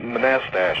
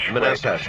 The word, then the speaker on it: Manastash: guess all right uh how do you pronounce the name of your town manastash oh oh manastash manastash that's right thank you and uh